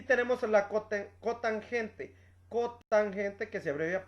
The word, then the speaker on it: tangente: lado adyacente y también se escribe como tam pero no se dice tan se dice tangente también tenemos la cosa